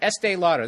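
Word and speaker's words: Estée Lauder: pick Estee Lauder I just said it right Estee Lauder there it is PR OTE breast cancer awareness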